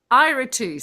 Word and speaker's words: Iratus: Despite my crappy Great pronunciation. job. No, you nailed it. You nailed it. What is it? Iratus.